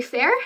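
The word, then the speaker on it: faer: so the last two you pronounce the first one um FEI fair and so it's f-a-e slash f-a-e-r and you would use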